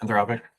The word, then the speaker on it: Anthropic: to not participate in the AI race, like Anthropic and, that's the name, right? Anthropic? Yep, Anthropic.